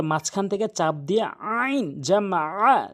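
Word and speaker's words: جَمَعَ: আইনটি হলকের মাঝখান থেকে উচ্চারণ করতে হবে, হলকের মাঝখান থেকে। তাহলে আইনটি অবশ্যই আমরা হলকের মাঝখান থেকে চাপ দিয়ে আইন জামা আ, জামা আ।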